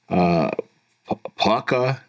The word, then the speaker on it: Puka: And then this other kid, I can't even pronounce his name, man. Puka Nacua.